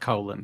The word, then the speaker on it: Colin: Well, it's spelled like Colin. It's spelled like Colin, but it's pronounced colon for some bizarre reason.